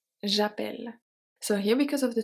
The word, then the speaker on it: j'appelle: So we have j'appelle j'appelle.